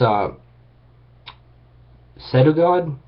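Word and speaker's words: Pseudogod: is just nuts it's a set of god like the p is silent i'm pretty sure it's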